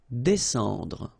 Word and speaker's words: descendre: Well, even if you've got this combination of S and C here, you just pronounce it S. Descendre.